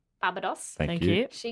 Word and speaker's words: Barbados: She grew up in a Sorry, could you pronounce it right? Barbados.